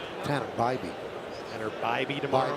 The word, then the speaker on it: Bybee: It'll be Will Warren against Hannah Beebe. Tanner Bybee. Tanner Bybee tomorrow. Bybee, yes. Now I'm 0 for 2 on pronunciations.